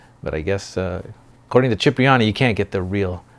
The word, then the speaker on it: Cipriani: Cipriani.